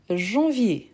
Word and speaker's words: janvier: donc j de janvier janvier attention à la prononciation janvier Jean janvier FD F parfait